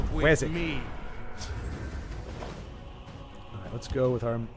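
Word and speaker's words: Wazzock: But like it's spelled Wazok, W-A-Z-Z-O-C-K, but it's you pronounce it Wazok. Wazok.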